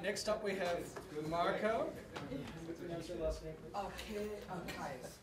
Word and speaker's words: Kaisth: Kaisth. Kaisth. The H is silent.